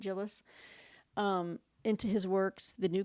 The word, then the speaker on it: Djilas: That's spelled Djilas, so Djilas, or I think the D is silent, Djilas, into his works, The